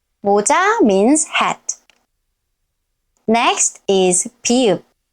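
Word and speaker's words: 비읍: Next is pi-eup. Its name is pi-eup. Pi-eup. Follow the arrows carefully. 1, 2, 3, and 4. Pi-eup. Pi-eup. At the beginning of a syllable, it sounds p.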